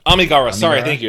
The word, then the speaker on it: Amigara: Uh, the actual pronunciation of that, uh, Kawagawa fault. Uh, why should I? Is it Amigara? Amigara.